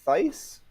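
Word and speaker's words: Thaiss: Moustakas uh other than that Matt uh Matt Theiss that's the pronunciation and Mickey okay yep yeah and then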